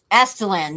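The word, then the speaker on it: Aztalan: Astalan, yes, that's how you say it.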